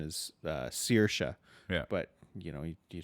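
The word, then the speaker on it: Saoirse: Freedom so it's um you know the proper pronunciation is uh CA yeah but you know you just when you're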